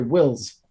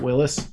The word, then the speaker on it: Wills: solution the liberty solution or sorry wills derrick wills oh nice not willis i've been reading his name wrong for years now um with a forward